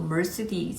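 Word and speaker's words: Mercedes: 모르고요 메르세데스라고 해도 모르고요 모든 단어를 다 미국식 발음으로 변형을 시키더라구요 제가 말씀드리는 그 발음이 맞는 발음이다라는게 아니라 김도 킴이고 이씨도 리가 되잖아요 미국에 오면 그런 식으로 메르세데스도 멀스 디 탄다고 얘기를 해서 뭔 소리를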